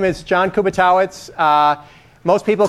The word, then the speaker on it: Kubiatowicz: few years ago and everybody was pronouncing a kubat or something like that which is probably more correct uh in some distant past but I'm fourth generation so kubba totz or Kuby is fine uh I have a